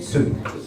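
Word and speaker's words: zu: then Su remember Su it's a z so it's like a TS so it's pronounced it like TS Su it Mees two my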